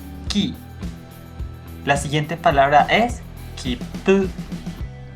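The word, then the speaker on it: きっぷ: La siguiente palabra es kipu. Se pronuncia con una ligera pausa, porque cuando nosotros veamos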